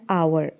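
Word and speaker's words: hour: उसके बाद एन आवर, आवर में एच साइलेंट है, इसीलिए हमने यहाँ पे वॉवल को मानते हुए एन का प्रयोग किया है।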